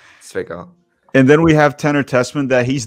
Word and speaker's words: Zwickau: What the people have asked me, it's Zwickau. That's the name of the city. The W is like a V, so Zwickau.